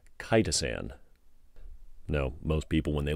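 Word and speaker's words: chitosan: i know i did i thought it was chitterson or chittazan or what i don't know insert wrong pronunciation here eric it is spelled c-h-i-t-o-s-a-n cytosin all right and that is derived from something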